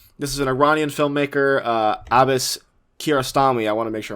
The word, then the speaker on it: Abbas Kiarostami: This is an Iranian filmmaker, Abbas Kiarostami. I want to make sure I'm pronouncing that right.